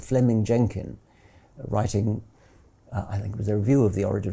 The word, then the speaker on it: Fleming: Jenkin was simply it's written Fleming but is pronounced Fleming um Fleming Jenkin was simply saying manifest facts